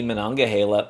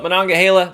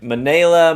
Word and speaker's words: Monongahela: It's really fun watching other whiskey YouTubers and writers and content creators try to pronounce Monongahela. It's humorous. I've heard Monongahela. I've heard Manila, Mongola.